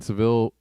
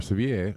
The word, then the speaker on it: Sevilla: at uh guelman Spain Seville or severe I don't know how you pronounce it Rose above 37c again I think it's more like Sevilla or Sevilla Sevilla but they are